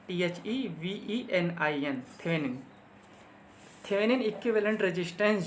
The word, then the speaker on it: Thevenin: देखने के लिए इस सर्किट को जो है थेवेनिन इक्विवेलेंट सर्किट में कन्वर्ट कर लिया जाता है।